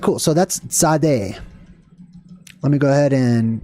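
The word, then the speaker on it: tsade: meant side which is kind of how the letter is pronounced Sade Sade or t z a d e mint side essentially or it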